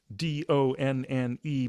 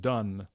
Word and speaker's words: Donne: so first of all it's spelled d-o-n-n-e but it's not pronounced don it's pronounced done um in fact uh